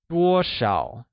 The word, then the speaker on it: 多少: 多少 is the correct way of pronouncing how much in Mandarin.